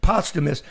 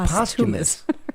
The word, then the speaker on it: Posthumus: welcome in Representative Bryan Posthumus. Bryan, I'm sorry. I always said, pronounce it, dude. Posthumus. Posthumus. There you go. Because his dad was... Like Dumas. I always said posthumous.